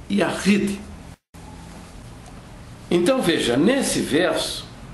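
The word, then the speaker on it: יחיד: Eles têm 2 palavras, Errad, para a unidade composta, e para a unidade absoluta, escreve-se Yashid. A pronúncia é Yahid.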